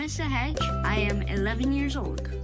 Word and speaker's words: Sahaj: I always make sure I learn how to pronounce everyone's names. Sahaj is my name, and you can wear it out.